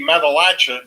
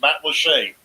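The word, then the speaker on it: Matlacha: It's spelled it's spelled that way, and you would think it would be Matalacha, but it's not. It's Matt Lachey.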